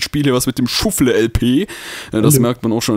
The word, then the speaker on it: ShuffleLP: Nein, das spricht man nicht Englisch aus, das heißt Schuffle-LP.